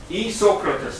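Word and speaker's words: Isocrates: E-Socrates, not Socrates, E-Socrates. It's a little I first there.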